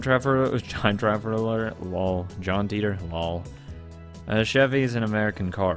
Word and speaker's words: Chevy: a 9 1970 Chevy an American automobile brand pronounced Chevy you